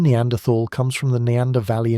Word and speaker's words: Neanderthal: There are two common ways to pronounce the word Neanderthal. One uses a T sound, as in tall, and the other uses a th sound, as in think.